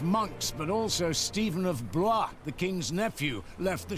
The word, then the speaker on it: Blois: Not only these monks, but also Stephen of Blois, the king's nephew, left the ship before it embarked. Oh, that's how you pronounce They it. say he got ill. Not Blois.